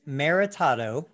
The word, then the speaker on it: Maritato: don't know you say your last name and spell it if you would sure it's maritado m-a-r-i-t-a-t-o and i knew you first because you